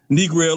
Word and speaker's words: Negril: Knee Grill, like Negril.